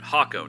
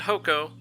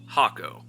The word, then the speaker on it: Hakko: the village of hakko that's right hako not hoco hako I said it right trust me just go